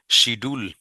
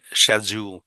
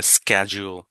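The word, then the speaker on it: schedule: British এটাকে বলে শ্যাডিউল, শ্যাডিউল। আর আমেরিকানটা বলে স্ক্যাজুয়াল, স্ক্যাজুয়াল, শ্যাডিউল, স্ক্যাজুয়াল। তাহলে কিভাবে প্র্যাকটিস করবেন? শ্যাডিউল, স্ক্যাজুয়াল, শ্যাডিউল, স্ক্যাজুয়াল। যদি ব্রিটিশ শ্যাডিউল, আপনার আমেরিকান স্ক্যাজুয়াল। বাট কখনো শিডিউল বলিয়েন না বা শিডিউলও বলিয়েন না, দ্যাটস রং।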